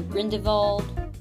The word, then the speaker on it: Grindelwald: So here's Grindelwald, or Grindel-VALD, I guess. Some people say it like that.